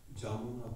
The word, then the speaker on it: Jamuna: Jamuna Pulini, Yamuna with a J, Jamuna Pulini, with Bengali style. That's how they pronounce it.